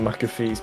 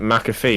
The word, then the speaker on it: McAfee: I don't know much about John McAfee's personal use bike, but he is Scottish, and that's all I'm going to say.